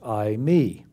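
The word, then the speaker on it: εἰμί: And it's the Greek word I, me. And it mean it's spelled e i m i pronounced I, me.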